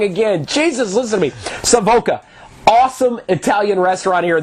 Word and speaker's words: Savoca: It's Savakos. I'm proud that Savoca. Oh my God, I said it wrong again. Jesus, listen to me. Savoca.